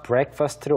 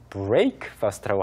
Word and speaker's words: breakfast: 그래서 원래 이제 break였지만 이게 단어가 breakfast로 오면서 break라고 발음이 된 거죠. Uh-huh. 네, 그래서 아침 식사라고 발음하실 때 breakfast라고 하지 않도록 주의해 주시고 right, right, right.